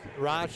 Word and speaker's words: Rosh: Or Roush, I think. Rosh is what the I asked a fan okay. over here from Okay. Northwood. That's how you're supposed to pronounce it.